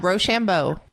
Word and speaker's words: Rochambeau: MC crew how do you how do you pronounce roshambo is that saying that right yeah Rochambeau okay and what and what does it mean